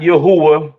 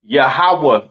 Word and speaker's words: Yahawah: all right it's not Yahweh uh it's not Yahweh right it is pronounced yahawah in the Hebrew all right yahawah in